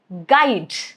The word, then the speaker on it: guide: Silent if it comes after letter G at the beginning of a word. Remember that, okay? For example, guess, guide, guilt. All of these three, as you can see, letter U is right after letter G. So, U is not pronounced. G is gonna take care of it.